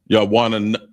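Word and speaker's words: יונה: The next one is dove or pigeon, and it's pronounced yawana. Make sure you get that na.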